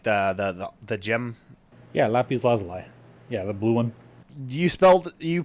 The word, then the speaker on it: lapis lazuli: Yeah, lapis lazuli. Yeah, the blue one. You pronounced it way better than I could even attempt to, so I'm going to stop here.